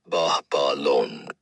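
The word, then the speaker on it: Babalon: B A B A L O N pronounced Bahalon.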